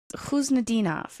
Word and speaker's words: Khusnutdinov: The way his name's being pronounced is different than how you said he told you it's pronounced, isn't it? He told me it's Khusnutdinov, and they call him Khuzi.